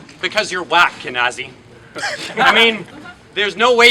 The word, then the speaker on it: Kinaze: Oh wait, sorry, it's Kinaze, right? Rhymes with, I've only been doing this for like 5 days.